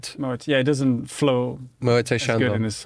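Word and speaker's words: Moët: you mentioned God so Freddie Mercury pronounced it wrong I get my pronunciation from Killer Queen oh he says because pretty dinner yeah she keeps a moe Shandon but it's Moet yeah it doesn't flow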